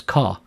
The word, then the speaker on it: char: the next type is Char Char is short for character and a Char value represents a Unicode character some people pronounce Chara as car either way is fine in this code example